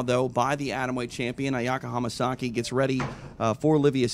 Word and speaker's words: Ayaka Hamasaki: Ayaka Hamasaki. One more time. Ayaka Hamasaki.